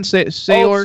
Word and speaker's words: Saoirse: I don't know how to pronounce her name. It's like Saoirse Ronan or something. Saoirse.